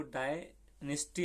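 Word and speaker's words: dynasty: for the downfall of Mauryan मतलब तो इसको डायनिस्टी ऐसा पढ़ेंगे, DY डाय ऐसा कर लेना है, निस्टी तो वो कभी कभार साइलेंट होता है, तो वैसे तो नेस्टी ऐसा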